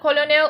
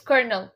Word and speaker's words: colonel: It's a very weird spelling, but it's not colonel, it's colonel. Colonel की spelling ये होते हैं. You can say colonel or colonel. Colonel or colonel. Yes. You can say with the R.